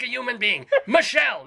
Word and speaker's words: Michele: But you also pronounce, even though there's an accent on the first E in Michele, you have to do the I thing, like Michele LaRue. Why is that? Michele.